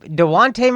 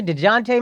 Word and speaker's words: Dejounte: DeJounte Murray. Deontay Murray.